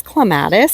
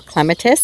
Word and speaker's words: clematis: Check out this gorgeous clematis or clematis, depending on how you say it.